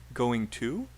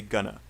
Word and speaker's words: going to: And I do want to point out, by the way, this is not pronounced going to. We say gonna.